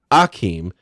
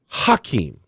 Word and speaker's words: Hakeem: he basically told reporters, "My name is not actually Akeem; it's Hakeem." So we all realized that we had been saying his name wrong all this time, and so he went from and all the things went from Hakeem Olajuwon. I mean, from Akeem Olajuwon to Hakeem Olajuwon.